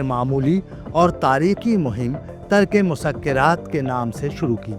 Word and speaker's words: مسکرات: انہیں یہ ترک مسکرات کی عمارت میرے بچپن سنا ہے.